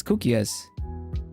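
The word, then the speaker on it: koekjes: a lone word it's a Dutch word it's cook yes cook yes but the Dutch go don't go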